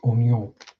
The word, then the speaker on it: oignon: Yes, the French for onion is oignon. Spelt the same, he's pronounced it differently because French.